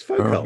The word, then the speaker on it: Foucault: Do you want to pronounce your Yeah. own answer? It's Foucault. No. Spelled Phauxkalt. Yeah. Foucault.